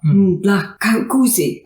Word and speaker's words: Ndlakuse: So I have Madoda, Ndlakuse.